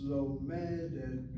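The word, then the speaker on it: לומדת: Lomedet. Lomedet. No, you're saying lomedet. Lomedet, say lomedet. Lomedet. Again, you're hitting the last syllable. Okay. The second to last syllable.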